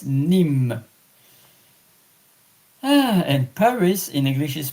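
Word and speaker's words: Nîmes: Aside that I was visiting two times France Paris and last year exceptionally I was taking a trip to Nim n i m e s nimh and Paris in English is par in French.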